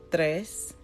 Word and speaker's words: tres: Uno dos tres and you see how the in it looks like Trace if you're if you're pronouncing in English but T and R together kind of makes the th sound it's kind of soft I'm right back in